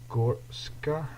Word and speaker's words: Goretzka: We could go for Leon Goretzka, I think it's actually pronounced.